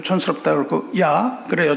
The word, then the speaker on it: ja: 우리가 보통 yes 이렇게 얘기하면 좀 촌스럽다 그러고 야 그래요. 좀 건방집니다. 야가 어디서 왔어요? 독일에서 왔습니다. 독일에서는 야 그래요. yes를 야 그런데 그 스펠을 보면 JA입니다. J가 Y 발음이에요.